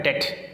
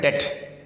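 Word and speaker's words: debt: ना करें करो देखो कहता है डेट इसमें 20 साइलेंट है इसमें डेप्थ नहीं पढ़ेंगे यह अल में है डेट मैंने बैंक का डेट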